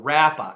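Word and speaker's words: רָפָה: But I want you to understand the word there is in Hebrew, it's a word that we would pronounce rapa, or rapa actually, with a long A.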